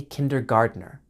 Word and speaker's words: kindergarten: Notice that the T in kindergarten is pronounced with a D sound, kindergarten. So, it sounds like garden, but is not spelled the same. That's because this word comes straight from German.